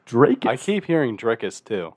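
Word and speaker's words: Dricus: I think it's Drakus. I keep hearing Dreykus too. Dude, I think it's Drakus. it's not Dreykus. I hear Drakus.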